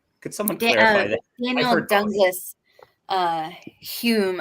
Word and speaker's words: Hume: someone done this uh Hume I believe Daniel's pronounced you but spelled home yeah yeah that's that's